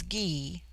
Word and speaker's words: Gy: the singular with man the word for woman is ghee pronounced hard as in guy it forms itself into